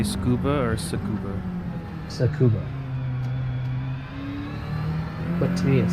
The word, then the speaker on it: Tsukuba: I say Tsukuba, like scuba, but Tsukuba. Do you say scuba or Tsukuba? Tsukuba.